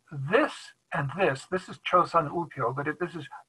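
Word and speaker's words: 조선: name here notice this and this this is chosun but if this is pronounced jo shun because you can see this shape and this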